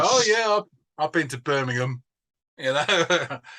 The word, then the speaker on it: Birmingham: word a place name with ham at the end we pronounce it um so it's Birmingham Buckingham Palace not Buckingham